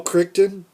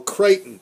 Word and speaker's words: Crichton: by this show but now Michael Krypton you're saying Michael Crichton okay now the thing